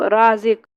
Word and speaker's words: رازق: زے قاف زیر زق، رازق۔ تو اس طریقے سے ہمیں اس کا ہجے کر لینا ہے، یعنی الف مد جو ہے اس کو ہمیں تھوڑا کھینچنا ہے اور الف کو ہمیں نہیں کھینچنا ہے، بس الف کی آواز